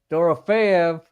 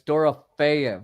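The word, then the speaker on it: Dorofeyev: You say his name wrong, by the way. It's Doraf or Doraf with a F.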